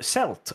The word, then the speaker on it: Celt: ourselves uh moronga 2 celt botched with a hard c there you go in fact that's the correct pronunciation too because there's a football